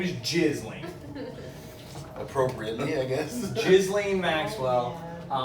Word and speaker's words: Ghislaine: Oh, it's Ghislaine. Ghislaine. I think it's Ghislaine. Her name is, oh, sorry, it's not Elaine. That would be too weird. Her name is Ghislaine.